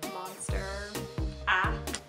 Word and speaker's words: monstera: I made by a Monera Leaf um not sure if I'm pronouncing that right but it's monster ah monster a it's called a monstera leaf it's a very popular